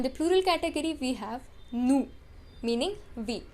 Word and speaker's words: nous: Now in the plural category we have nous, meaning we. We do not pronounce the last consonant.